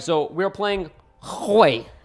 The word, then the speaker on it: Hwei: All right, so we're playing Hwei. You gotta pronounce it like that, Hwei, okay? You gotta put like a little throat action, all right?